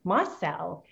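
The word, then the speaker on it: Mossell: i mispronounced her name it is marcel is the way that you you pronounce that and so that's gonna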